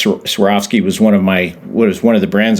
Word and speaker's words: Swarovski: You know we tell them you swear off skiing that's Swarovski.